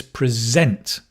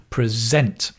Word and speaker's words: present: notice the stress here because most of you are used to saying present like a birthday present but here it's a verb and it's present the stress changes to the second syllable present to present a prize